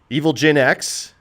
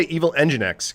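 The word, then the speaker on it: Evilginx: I like Evil Gen X better. I always say Evil EngineX because it's engine X, right?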